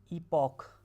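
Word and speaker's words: epoch: इसका pronunciation ईपॉक है। 1 2। तो आपने देखा होगा कि टोटल इयॉन 1 हैं, एरा 3 हैं, पीरियड्स भी हैं, सफिशिएंट पीरियड्स हैं। ये आपको बहुत कॉमन पीरियड है, ये आपको याद होगा, जोरासिक, राइट। डायनासोर के नाम पे याद होगा आपको यहाँ पर, ठीक है। उसके बाद इसका प्रोनाउंसिएशन जो है ना, बताया मैंने आपको, ईपैक है। क्या है, ईपैक। ये ओ का ए आता है प्रोनाउंसिएशन, ईपैक।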